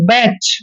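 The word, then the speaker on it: batch: तीनों लेटर इकट्ठे है तो यहां पर टी साइलेंट रहेगा कच क्या पढ़ेंगे इसको कैच नेक्स्ट है बैच बैच में भी क्या है टी सी एच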